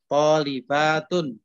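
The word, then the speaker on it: طالبات: dibaca Pendek kan begitu Makanya kalau membaca jamaah ujungnya itu dipanjangkan tholibatun gitu baik pokoknya mbaknya yang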